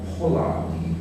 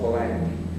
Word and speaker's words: Polanyi: The two most important writers in this tradition are a Hungarian called Karl Polanyi, I believe is the pronunciation, though in the English-speaking world we would simply call him Karl Polanyi, and the historian Moses Finley.